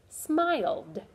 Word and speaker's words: smiled: So it says smiled. And that's the D sound.